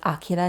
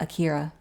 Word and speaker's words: Akira: It's pronounced Akira, not Akira.